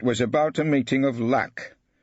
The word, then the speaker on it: LAC: It was about a meeting of lack. He pronounced it as one word, like the place Sir Lancelot came from.